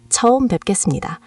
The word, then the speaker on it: 처음 뵙겠습니다: It's 처음 뵙겠습니다, pronounced 처음 뵙겠습니다.